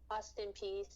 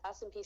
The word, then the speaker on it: Austin Peay: It's a small D1 school, and what's the pronunciation again? Austin Peay. Oh, my name? No, no, your school, Austin Peace University. Yeah, Austin Peay State University.